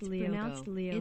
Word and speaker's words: Lyoko: It's pronounced Lyoko. It's a French show.